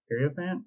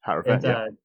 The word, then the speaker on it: Hierophant: So, for those who might not know, Ora Skyclave Hierophant, I think is how you say it. I don't know. Hierophant, yeah.